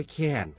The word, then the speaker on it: แค้น: ขอ เสนอ คำ ว่า แคน ครับ แคน เขียน สระ แอ คอ ไม่ โท นอ หนู รวม กัน แล้ว อ่าน ว่า แคน ครับ แคน มี อยู่